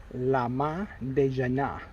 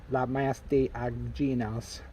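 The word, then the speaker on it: Le Mas d'Agenais: So, Lama de Jana, not Lamas de Aginas. They have no idea what I'm talking about.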